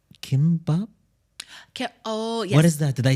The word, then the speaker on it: kimbap: There's something called kimbap. Oh yes. What is that? Did I pronounce it correctly?